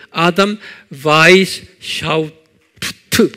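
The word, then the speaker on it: Adam Weishaupt: 이 그룹을 만든 분이 아담, 이게 독일 이름이기 때문에 W는 V 발음하죠. 그래서 아담 바이스 샤우프트 그래요.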